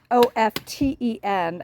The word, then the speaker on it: often: Anyway, one of the words is OFTEN, and I know here in America a lot of people pronounce the T, but I was raised that you do not pronounce the T. The T is silent.